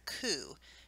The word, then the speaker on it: coup: injury results from a coup it except the word looks like coupe on your side's but the P is actually silent so it's public coup